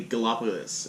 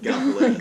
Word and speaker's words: Gallipolis: They'd say Gallipolis instead of Gallipolis.